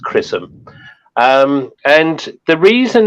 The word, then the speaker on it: XRISM: Now, as Andy said, it's XRISM, which is pronounced Chrism with a C. Is it really? But yeah, that's how it's pronounced, Chrism.